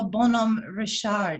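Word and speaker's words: Bonhomme Richard: do you want to correct sean it's the bonum richard if you will sean okay actually if you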